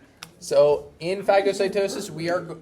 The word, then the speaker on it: phagocytosis: little vesicle a little bubble the other one fagocitosis we are going to be eating large particles yes that is how it's pronounced so in phagocytosis we are it's going to be considered cell